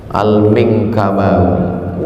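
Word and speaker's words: al-Minangkabawi: Gimana cara membacanya? Al-Mingkabawi.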